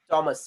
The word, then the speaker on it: Thomas: थॉमस, वहाँ पे H silent है. एच Thomas. साइलेंट है. हाँ, अपने इधर थॉमस बोलते हैं उसको, पर थॉमस नहीं है वो.